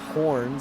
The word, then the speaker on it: Horan: Yeah, a lot of comments that his name is pronounced Horn, so my apologies.